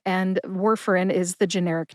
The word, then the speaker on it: Warfarin: Warfarin has 3 syllables. War as in World War II, fur like the fur on a dog, and in, as in the pills go in the bottle. Put all 3 syllables together and you get Warfarin. Emphasize war.